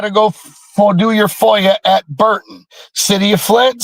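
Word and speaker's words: FOIA: We can foyer request uh public lobby cameras and foyer is spelled fo i a.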